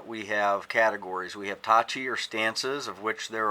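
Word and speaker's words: 立ち: Now you notice if you just say stance, it's Tachi with a T. But if you say, for example, Kiba Dachi, then it becomes Dachi with a D.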